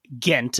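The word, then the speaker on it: Ghent: of gent is it what's the right way to say it gent is the normal way we say the city in Europe rather than the city in Kentucky I was about to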